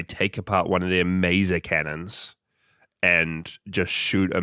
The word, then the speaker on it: Maser: I also realized as well, I think when we started the show, I was calling it Mesa Cannon. It is. But it's Maser as in laser.